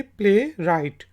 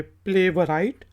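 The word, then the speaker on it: playwright: पहला वर्ड है PLAY और WRIGHT, तो इसको कहेंगे प्ले राइट। तो इसको ये नहीं कहेंगे प्ले वराइट, प्ले राइट।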